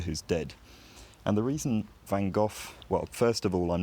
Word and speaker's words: Van Gogh: I'm I'm going to lean on the fact that van go certainly was used to people pronouncing it wrong because he lived in England and France over the course of his life and so I don't feel bad about pronouncing it in an English way here um so in general